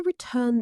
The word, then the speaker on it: return: I need to return these library books by Friday or there will be a fine. 2 syllables. Return. The stress is on the second syllable.